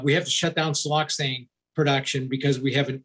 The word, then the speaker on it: siloxane: you talk about here uh i think it's siloxane is am i pronouncing that right siel yep no you're pronouncing